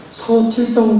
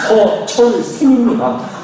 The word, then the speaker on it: 서철승: 뭐 인터넷 가입하라 뭐 하라 뭐 카드에서 전화하고 뭐 어떻게 전화하면 서칠성 고객님 되십니까? 서철승입니다.